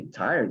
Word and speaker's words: tired: Recuerden, la E no, normalmente no suena aquí. ¿Ok? ¿Cómo se pronunciaría esto? Tired, tired, tired of swimming. I am very tired of swimming.